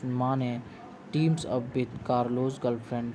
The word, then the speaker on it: Mane: the once honest cop Namdev Mane, pronounced as Mane, teams up with Carlos' girlfriend Shania, who is on the lookout for hidden diamonds and facing bankruptcy.